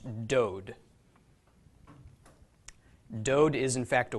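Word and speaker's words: דוד: doll it there another D so this is pronounced dode dode is in fact a word dode means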